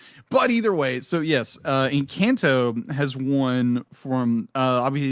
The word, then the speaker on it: Encanto: Encanto has won the Golden Globe for Best Movie Picture, Best Motion Picture for Animation.